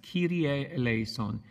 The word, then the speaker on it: Kyrie Eleison: Kyrie Eleison. It's actually Greek.